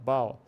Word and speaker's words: bow: E a pronúncia dele é próxima do now. O now a gente está acostumado, porque é uma palavra comum, por isso até associa o som ao AU, now. Now, bow.